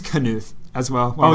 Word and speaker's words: Knuth: So I actually think it's Knuth as well. Oh, it's on Knuth. This topic. Okay. That's what the pronunciation key says. Ah, Knuth.